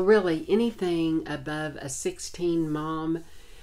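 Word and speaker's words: momme: my experience anywhere from a 16 mom and that's spelled m-o-m-m-e that is the weight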